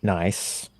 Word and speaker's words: Næss: it's Um, Thea Sofie Loch Næss, and I say that like Borat because that's apparently how it's said.